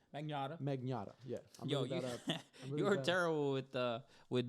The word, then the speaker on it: Magnotta: Magnotta.